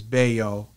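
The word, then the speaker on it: Bello: I think at one point it was originally B-E-L-L-O, which would probably be pronounced as Bayo mm-hmm. or something like that in French, because, you know, my dad's, you know, Creole heritage, mm-hmm.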